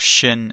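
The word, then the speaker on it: ש: It's called shin and then sin. The two forms of the same letter. One's got a dot on the right hand side. That's shin. It's got a shh sound.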